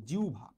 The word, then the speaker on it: জিহ্বা: পেশিটার নাম হইতেছে জিহবা বা বাংলায় সঠিক উচ্চারণ বললেই জিউভা জিউভার উপরে আমাদের তালু